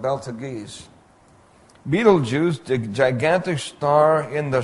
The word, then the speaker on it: Betelgeuse: Then there's Betelgeuse. Pronounced Betelgeuse, spelled Beltegeuse. Betelgeuse, the gigantic star in the shoulder of Orion.